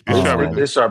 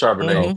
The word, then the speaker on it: Charbonnet: backfield with Charbonnet, and that might not even be how you say his name, but I want some wine. No, it's Charbonnet. It's Charbonnet and Kenneth Walker. Yeah. Yep. You said it right.